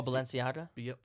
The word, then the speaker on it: Balenciaga: Oh, Balenciaga?